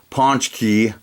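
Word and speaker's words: pączki: To Us by uh if you can't pronounce that it's a Polish word it's Ponch key and that is a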